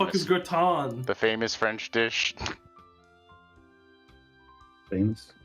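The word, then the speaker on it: gratin: looks like the like is gron the famous French dish famous how the do I spell that you you said a French word g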